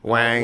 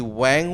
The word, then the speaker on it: Wang: Is that the first time you hear his name being pronounced properly? Wang.